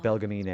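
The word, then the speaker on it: Belgemine: My name is Belgamin. You are Belgamin. That's how you say her name.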